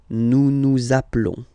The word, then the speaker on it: nous nous appelons: okay, nous appelons, and then little link would be perfect, so let's pronounce the whole thing again, nous nous appelons, okay, final S doesn't exist, nous nous appelons.